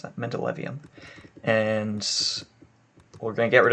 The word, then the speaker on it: mendelevium: see uh anyway so we have uh mendeleev mendelevnium gosh i must pronounce that mendelevium and we're gonna get rid of that because